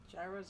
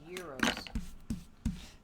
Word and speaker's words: gyros: trees tilted just sideways Gyros are pronounced Euros depends I always say Gyros yep it depends where you are in the country and both are acceptable euros and Gyros so